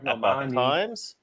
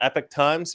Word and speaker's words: Epoch: I subscribe to Epoch Times or Epic Times, depending on how you want to pronounce it. I've looked it up, and both pronunciations seem to be acceptable.